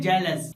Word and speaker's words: jealous: सबसे पहले आइए दोनों वर्ड के साउंड की बात कर लें। जे इ एल ओ यू एस। इस वर्ड का साउंड है जेलस। और वहीं अगर हम बात इस वर्ड की करें जिसका स्पेलिंग है जेड इ एल ओ यू एस। तो इस वर्ड का साउंड है जेलस। यानी इन दोनों के साउंड में थोड़ा सा फर्क है।